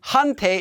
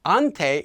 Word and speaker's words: 한테: might have noticed that instead of saying hunte and hunte soul i'm saying more like ante and ante so let's talk